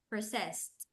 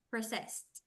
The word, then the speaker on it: processed: sounds like a t processed processed processed T no processed processed processed it's like when we say for example worked worked worked like this worked worked